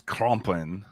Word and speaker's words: Krampus: picture the thing about Krampus is uh the German pronunciation is complin uh son of heel